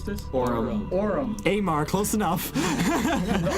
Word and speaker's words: Aurum: Over the hill, the army of Amar. How do we pronounce this? Aurum.